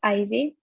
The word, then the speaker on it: Izzy: My name is Izzy. A lot of people mispronounce it. So just to make it easier for you, it's pronounced like iPhone.